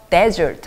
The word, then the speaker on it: desert: 여러분 이 단어는 사실 이걸 똑같이 이렇게 써놓고 강사를 앞에 넣어서 desert 하면은 사막이죠. 사막. 근데 이걸 이렇게 똑같은 스펠링인데 desert라고 뒷부분에 강세를 넣으면 버리다가 돼요.